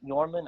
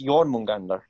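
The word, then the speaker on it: Jörmungandr: fuck, I can barely speak Spanish, so Just don't say Yorman as dormant because that's just weird. It's Jormungandr or Jormungand. that I did know. Um, I have actually heard people pronounce it Jorman, and I'm just like, no, why? Why do you do this?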